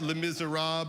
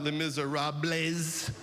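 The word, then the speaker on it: Les Misérables: I learned that it is pronounced lim miser rob not le miserab which is what I've been saying for 10 years.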